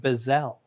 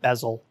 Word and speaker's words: bezel: in the bezel it's one of those words that I learned wrong because I learned it by reading it and for years I pronounced it bozell I always thought it was a Bozell it's not everybody says it bezel oh oh yeah this